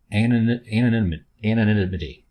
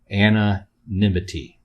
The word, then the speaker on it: anonymity: I guess it's a fresh take on anonymity. I'm saying it wrong. Anonymity. Excuse me.